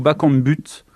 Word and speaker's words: Bakambu: suis journaliste aux radios ont dit bakambu ou bac en but bakambu bakambu bakambu et bacon but ça vous plairait